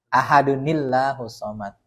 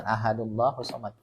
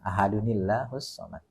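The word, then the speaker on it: أَحَدٌ ٱللَّهُ ٱلصَّمَدُ: Nah, dikasih tahu non kecil. Itu maksudnya kalau mau disambung bacanya begitu, ada nil. Ahadunillahu somad. Gitu. Jangan ahadullahu somad.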